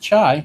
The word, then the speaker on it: Chi: It's spelled Chi. Well, it's pronounced Chai.